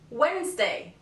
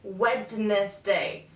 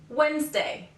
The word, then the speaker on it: Wednesday: muscle now letter D the letter D is usually silent before the letters n and G for example Wednesday and not webbed nest day Wednesday pledge Raj now onto